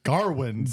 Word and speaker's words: Gawain: They pronounce his name Gawain in the movie. Well, the king says Garwin several times. Yeah, he's a Garwin or Gawarn or something like that.